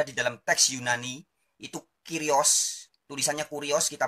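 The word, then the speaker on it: κύριος: kata kurios atau kata kyrios dalam bahasa Yunani kata kyrios tulisannya kuriositas bacanya kyrios oleh Lembaga Alkitab Indonesia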